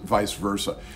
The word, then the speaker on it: vice versa: you very strangely so in English we've taken it and and pronounce it vice versa so right I support